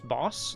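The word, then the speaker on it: Bawss: Boss. It's boss. B-A-W-S-S. It's pronounced boss.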